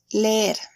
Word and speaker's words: leer: Leer, to read. It belongs to the second conjugation. Keep in mind, there is the same vowel twice, one after another. So it is required to pronounce both.